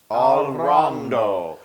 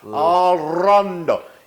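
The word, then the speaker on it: all'onda: and it's going to become Al rondo. Al rondo. Yes, and you have to roll your R's like a wave.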